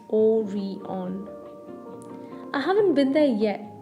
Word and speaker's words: Orion: in the crowd about the newest and the shiniest mall, Orion, pronounced O-re-on.